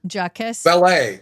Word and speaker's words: Jacques Vallee: Jacques Vallee.